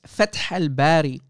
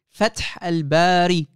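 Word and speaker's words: Fath al-Bari: of time and uh it's fat hellberry you idiot you can't even pronounce the name correctly fat alberti idiot fat hellberry guys is basically someone who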